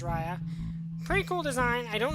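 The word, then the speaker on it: Raia: I've heard it Raja, I've heard it Raya, but Raya is probably the correct pronunciation.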